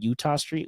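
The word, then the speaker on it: Eutaw Street: and basically center field it's called Utah Street which is spelled eut t a w and during the week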